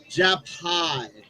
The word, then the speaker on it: Japai: ] I am it's actually pronounced japai as in jab hihachi or I like to get high jai like hi like the Japanese because my